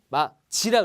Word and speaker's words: 맞이: 마지라 그랬죠, 마지, 그죠?